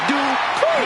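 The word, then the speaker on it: Dupri: Michael, it's pronounced Dupree.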